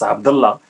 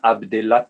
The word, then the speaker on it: Abdellah: se prononcent complètement différemment ça se prononce abdallah au maroc en avant dans l'altaï en français ça devient abdellah taïa j'avoue que je préfère